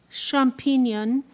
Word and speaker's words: champignon: Are there any other pronunciations? Yes. Champignon, and champignon.